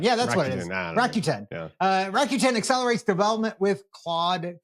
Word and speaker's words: Rakuten: Rakuten? I've called it Rakuten, I think. Rakuten. But I don't know. Rakuten. Yeah, that's what it is. Rakuten.